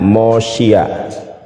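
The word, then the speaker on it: מושיע: Ini mem, ini fab, ini sin, ini yud, ini ain. Ya, ain. Dibacanya Mosia. Ya benar.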